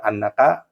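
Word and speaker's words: أنّ: Alasannya karena masdar muawal yaitu lafad annaka muti'un dapat diubah menjadi masdar soreh menjadi ito'atuka. Contoh yang kedua, atamanna annal qamaro tali'un, maka dibacanya anna bukan inna.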